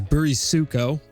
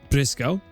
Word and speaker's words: Brisco: So, uh I hear a lot of Westerners pronounce my name as Burisuko, uh which is totally wrong. That's not how you say it. It's just Brisco.